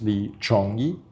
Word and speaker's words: Li Chongyi: If you're going to add my Chinese name, it's Li Chongyi. That's the Hokkien pronunciation of Yi, Li Yi.